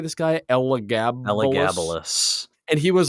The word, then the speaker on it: Elagabalus: Elagabalus.